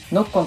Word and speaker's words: ノッコン: ちなみにノッコンという名前の由来